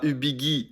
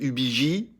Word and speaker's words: Ubigi: Alors fun fact, apparemment on dit pas Ubigui mais Ubigi.